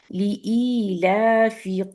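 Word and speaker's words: لإيلاف: stretch करना है इसमें याद रखिएगा कि लोग अमूमन इसको सही प्रोनाउंस नहीं करते ली ई ला ठीक है दो ये दोनों दो काउंट है और ये काउंट है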